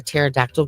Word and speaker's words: pterodactyl: You know why you can't hear a pterodactyl go to the bathroom? I don't know. Because the P is silent.